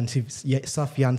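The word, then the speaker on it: Sufjan: mystery of Love by Sofia sofian Stevens yeah that's how you pronounce it yeah the guy who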